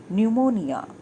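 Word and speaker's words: pneumonia: शी हैड न्यूमोनिया। Students, न्यूमोनिया की spelling को ध्यान से देखिए, यहाँ पर P साइलेंट है।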